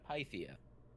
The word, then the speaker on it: Pythia: Pythia. Is that how you pronounce it? Pythia? I've lost it. Yeah, Pythia.